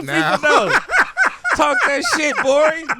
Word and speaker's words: Gborie: Talk that shit, Gborie. The G is silent.